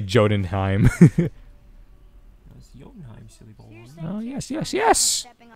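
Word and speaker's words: Jötunheim: a path to oh okay that's how you pronounce it let's say jodenheim silly oh yes yes yes this reminds me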